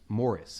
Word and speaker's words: Maurice: Morris, excuse me. It's spelled Maurice, but they pronounce it Morris.